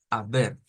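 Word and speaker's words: aber: que sería la tercera la a la b e r pues se lee bastante como está ahí nada más que a la a le vamos a agregar como una H Entonces vamos a decir a ver a ver a ver no solo es la a así solo no es como decir a ver sino a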